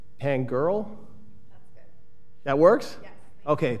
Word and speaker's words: Pangerl: And I apologize if I'm pronouncing the last name, because it's Pangerl. That works? Yes. Okay, Pangerl versus Peoria Unified School District.